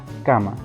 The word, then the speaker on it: cama: En el segundo ejemplo encontramos la palabra cama, donde sabemos que de la misma manera está conformada por 2 sílabas, la primera que es K y la segunda que es ma.